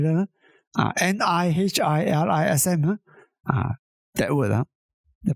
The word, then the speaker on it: nihilism: N I H I L I SM. uh that word the pronunciation is nihilism nihilism or something like that.